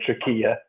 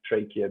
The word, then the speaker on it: trachea: There are two systems of blood vessels, and of course what I say trachea, but the Americans say trachea.